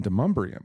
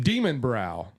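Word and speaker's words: Demonbreun: and then you had to get off on Demumbrium, but I'd never heard it said. How do you spell that? How do you spell that? Demon Brow.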